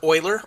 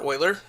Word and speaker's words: Euler: So EU stands for Euler or Euler. I prefer Euler pronunciation. Both I've heard common around work.